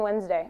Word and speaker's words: Wednesday: Like, why is there a D in Wednesday?